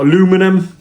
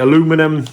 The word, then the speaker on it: aluminum: but uh yeah you we call it aluminium you call it aluminum um it's the same